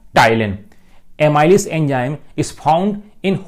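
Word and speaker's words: ptyalin: देखें आप, P silent होता है, पटाइलिन नहीं पढ़ते भाई इसको, एमाइलेज या टाइलिन।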